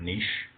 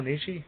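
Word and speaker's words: Nietzsche: the writings of uh Frederick Niche I think that's how you'll pronounce it oh Nishi yeah uh you know books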